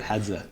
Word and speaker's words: Hadza: Had I can never pronounce it. Sorry. Hadza.